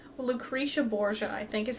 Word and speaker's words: Lucrezia Borgia: And he goes down the zip line, and he gets to, there's this big painting of Lucrezia Borgia? Lucretia Borgia, I think, is how they say it in the show.